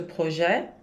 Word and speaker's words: projet: Se você dizer esse projeto, ce projet, que é masculino, aí você vai dizer ce projet me paraît très intéressant. Você não vai pronunciar o T.